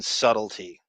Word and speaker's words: subtlety: probably probably didn't um he put the b in subtlety you know get it you don't pronounce the b and so so like